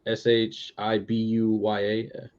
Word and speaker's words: Shibuya: Shibuya I think that's how you say it s-h-i-b-u-y-a okay yeah I got it right yeah and